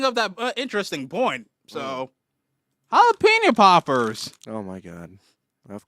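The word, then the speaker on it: jalapeño: who do but he had Spanish inflection on the jalapeno jalapeno first if you're if you're going to pronounce it shouldn't you try to pronounce it in the proper tongue jalapeno yes what he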